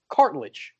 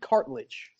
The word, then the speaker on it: Cartledge: to recite Richard's name, I throw the ill in there, and there is no ill. It's cartilage. Cartilage, right? Correct? Yes, cartilage. You're right. Richard Cartledge.